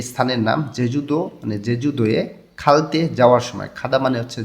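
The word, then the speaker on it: 갈 때: আর ভাচ্ছিম না থাকলে সেটার উদাহরণে আছে খাদা মানে হচ্ছে যাওয়া, দাটা যখন আমি বাদ দেব তখন এখানে শুধু খা থাকবে, এর নিচে ভাচ্ছিম নাই, তাহলে উচ্চারণটা হবে খালতে।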